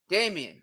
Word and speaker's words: Dameon: Dameon.